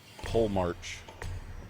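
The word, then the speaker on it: Polemarch: me here there's one pull mark that's how you actually pronounce that there he is says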